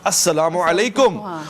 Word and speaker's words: السلام علیکم: صحیح جملہ تلفظ السلام علیکم، اور آپ نے السلام علیکم سام.